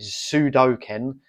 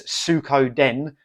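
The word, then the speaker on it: Suikoden: two I always pronounce that wrong I always pronounce it sudoken there's in Sudoko the game but it's Sukho Den too and yeah this is like a Japanese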